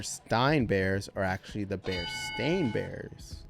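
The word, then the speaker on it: Berenstain: read would pronounced correctly I think honestly people just mispronounced it all the time because bear stain sounded weird and bear Stein sounded better but didn't bother correcting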